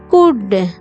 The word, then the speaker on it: could: the is this could c o u l d l is silent here under u n d